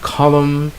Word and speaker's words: column: All right, so those are words that have silent letters, or the letters are dropped, and therefore they are not pronounced.